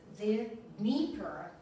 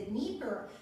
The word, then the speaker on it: Dnieper: Well, the Dnieper. The Americans say Dnieper. Американцы не могут выговорить Дн, они говорят the Dnieper.